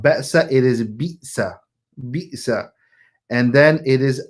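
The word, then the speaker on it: بئس: So it's not be'sa, it is bi'sa. So it is a ba with a kasra, and the hamza comes after that, which has a sukoon.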